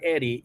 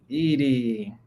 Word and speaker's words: Edie: It's not Eddie, it's Ed. Edie. That makes sense.